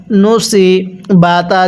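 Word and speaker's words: نُصِبَتْ: পড়ব ওইলাল জিবালি কাইফা নুন পেশ ন স নুসি বাতা জবর বাত নুসিবাত কিভাবে পড়ব ওইলাল জিবালি কাইফান নুসিবাত আমার সাথে মিলিয়ে পড়ুন।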